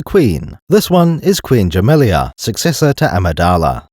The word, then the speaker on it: Jamilia: This one is Queen Jamilia, successor to Amidala. That second I is a bit debatable. Captain Typho pronounced her name as Jamila.